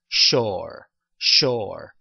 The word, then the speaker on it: sure: 자, she 소리하고 소리가 합쳐졌어요. 그래서 그다음에 are 밑으로 보내 보세요. 그래서 sure 이렇게 발음을 해 봤고요.